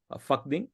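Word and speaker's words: Phakding: start from uh lla to a place called faking it's called p h a k d i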